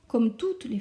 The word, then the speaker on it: les: Les pronoms COI sont me, te, les, nos, os, les. Je prononce bien le S du les.